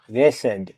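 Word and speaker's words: wretched: W letter দিশালেন থাকবে ডাবলিউ আর ইটি সি এইচইডি রেসেড অর্থ হতভাগ্য এখানে ডাবলিউ পরে আর আছে তাই ডব লেটার দিলেন থাকবে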